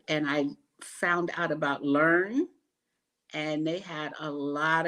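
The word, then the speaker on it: LE&RN: Learn. But when you look for it online, it's LERN is how they spell it. But we call it Learn.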